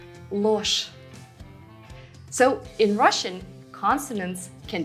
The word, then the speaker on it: ложь: Remember, zh and sh are never soft in Russian. So with or without a soft sign, zh at the end of a word will be pronounced as sh. Ложь.